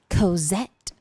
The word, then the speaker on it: Cozette: Cozette like cassette tape. The more French you pronounce cassette, the better.